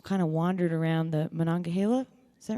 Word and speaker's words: Monongahela: I did this sort of road trip that I just kind of wandered around the Monongahela.